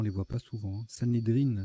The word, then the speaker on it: Sanhédrin: Sanhédrine, ça se prononce.